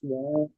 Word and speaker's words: は: The ha, they say the ha is pronounced as wa.